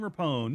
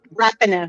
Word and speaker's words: Rapinoe: Okay, how many times has Megan Rapone, is that right? Is that pronounce her name? Rapinoe.